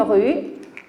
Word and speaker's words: rue: Alors, une rue, voilà, le E, est-ce qu'on prononce? Non. Alors, le E à la fin, donc on ne prononce pas le E.